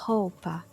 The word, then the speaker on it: roupa: When the R is at the beginning of a word, then it's pronounced as like the very similar to the H sound in English, like hospital.